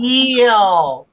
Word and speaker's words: eel: When you try to say eel, it still sounds like ill. Kelly, the double 2 E's make a long E sound. Eel.